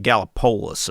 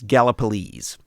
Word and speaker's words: Gallipolis: over in Gallipolis and I had to look up how to pronounce that because I was saying it's something like gallopolis or something like that I don't know Galapagos yeah something like that yeah I think it's how I was pronouncing it during the Mothman episode yeah yeah so it's it's Gallipolis and I I forgot